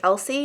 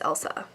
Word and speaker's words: Elsie: Like Elsie is not Elsie, it's Elsa, according to the pronunciation guide.